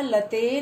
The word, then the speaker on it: लता: प्रथमा व्यक्ति में है लता लते लता है, देखो इसमें विसर्ग नहीं है, लता लते लता। द्वितीया में है लताम लते लता।